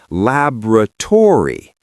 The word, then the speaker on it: laboratory: We stress the first syllable, lab, and we do not drop the vowels at the end, but we do change them. We say laboratory. Laboratory. Four syllables, completely different rhythm, completely different stress pattern.